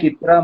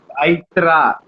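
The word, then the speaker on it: इत्र: I've been pronouncing Itra wrong all this while. I know, right? Lot of people. They were like Aitra. They pronounced it Itra. I think it's actually Itr.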